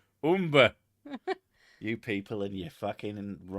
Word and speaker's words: Humber: or the umber umber i know how that word's pronounced it's not humber i've been told off for that because i said it was the humber someone went no it's the umber umber you people and you're